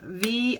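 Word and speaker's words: Vy: on YouTube too and her name is V but it's spelled v-y so it looks like bye by Tran and or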